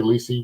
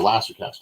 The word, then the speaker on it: Lisey: Did I say Lisey right? Yes, you did. Ooh, okay. It's supposed to rhyme with CC.